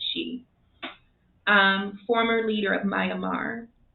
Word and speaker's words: Kyi: she sweet it's pretty the last name is spelled kyi but it's not it's not kid she think it's she um former leader of